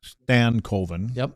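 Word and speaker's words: Stankoven: So Logan Stanco as you like to say or do you like to say Stanovven? No, it's it's properly pronounced Stanovven.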